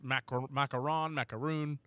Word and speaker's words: macaron: a uh a question within my household it's macaron all right for those of you that